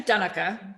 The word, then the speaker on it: Donnica: Donna camor am I pronounced in donek am I saying it right well it's actually done oka but I've gotten used to people want to